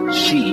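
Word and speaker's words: sídhe: Well, my dear friend, in Old Irish, the word she, pronounced she, refers to fairies, elves, and other nature spirits.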